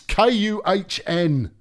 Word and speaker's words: Kuhn: It's Kuhn. For crying out loud. We can be careful, but at the same time, that's how it's pronounced.